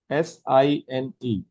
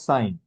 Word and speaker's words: sine: Basic trigonometric functions are, first is sine, S-I-N-E. Please pronounce it as sine, okay? In short, it is written as S-I-N. Again, pronunciation is sine only.